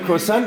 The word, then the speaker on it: croissant: Do you call it croissant or do you call it something else in French? croissant. Croissant. Yeah. That's how you say it in French.